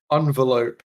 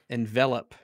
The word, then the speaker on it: envelope: do you pronounce envelope well it depends if it's a verb or a noun envelope envelope no it really has